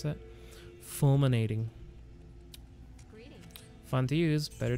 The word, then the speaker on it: Fulminating: it's a whole struggle i didn't sell my fluminating potion how do you pronounce that fulminating greeting fun to use better to sell a